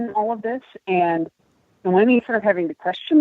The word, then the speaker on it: Noemi: So these worlds that have evolved, the characters, it's Noemi, right? Did I say it right? Noemi? Yeah, I Noemi. think so. You can pronounce it either Noemi or Nomi, but I go with Noemi personally.